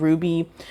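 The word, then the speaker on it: RWBY: saying this, I've been watching a series called Ruby, which is spelled sorry, R as in Robert, W as in Wally, B as in Barry, Y as in Yo-Yo.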